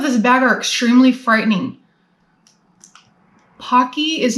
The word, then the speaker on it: Pocky: Pocky rhymes with hockey.